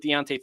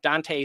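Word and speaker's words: Dont'e: They might connect with Deontay Thornton or Dante. I always get that name wrong. Dante Thornton.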